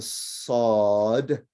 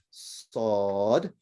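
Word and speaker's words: صاد: right so it's a sod the name of the letter is sod and uh i guess similar to when you say assault right but it's it's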